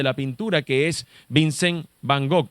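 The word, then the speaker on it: Van Gogh: pintura que es Vincent Van gog lo voy a pronunciar así como como suena no voy a pronunciarlo en neerlandés Vincent Van gook fue realmente apreciado después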